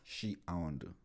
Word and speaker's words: Shiaondo: I was pronouncing your name as Shiaondo, but now I know that the right pronunciation is Shiaondo.